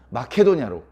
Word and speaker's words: 마케도냐: 근데 성경은 마게도냐 이렇게 써 있어요. 마게도냐. 상당히 경음과 격음을 순화시켜서 기록하는 그런 흔적들이 많이 보입니다. 그러나 이제 그것은 원문에 가까운 발음이 아니기 때문에 크게 여러분들에게 혼동을 주는 게 아니라면 마게도냐는 마케도냐로, 세겜은 세캠으로 제가 말을 하더라도 오해 없이 들어주시기를 부탁을 드립니다.